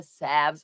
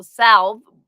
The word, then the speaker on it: salve: on the skin and in American English we don't say the L we say Sav but in British English it is pronounced so Salve might not what might